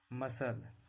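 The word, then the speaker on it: muscle: सी कब साइलेंट रहता है? जब सी के पहले एस हो। जब भी सी के पहले एस रहेगा तो सी साइलेंट रहेगा। साइंस मसल सीन यानी सी का उच्चारण नहीं करना है।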